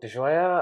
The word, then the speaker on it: DiGioia: My name is DiGioia.